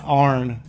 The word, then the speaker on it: iron: And then Arn. Arn is how you would pronounce it from around here. Instead of iron, Arn.